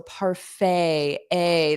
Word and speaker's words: parfait: the French sound so paray a that's why the t is silent okay and woo everyone